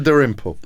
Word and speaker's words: Dalrymple: school, by having these strange esoteric names, esoteric pronunciations. William Dalrymple.